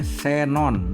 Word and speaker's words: xenon: diri dan keperluan ilmu huruf x pada posisi awal kata diucapkan sebagai es jadi Xenon itu dibacanya Xenon bukan ke Xenon tapi Xenon G huruf diftong dalam bahasa